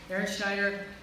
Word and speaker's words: Erin Schneider: So Aaron Schneider, Luann Swedberg, did I get that pronounced right?